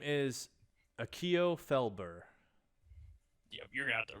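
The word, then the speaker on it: Akio Felbur: the name what's your name the name is akio felber yep you're gonna have to pronounce that a couple times akio akio felber f-e-l-b-u-r i got it right i got close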